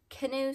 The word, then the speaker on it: Kihnu: Rachel of ZZ textiles these are the canoe socks I think is how you say it k-i-h-n-u um they are out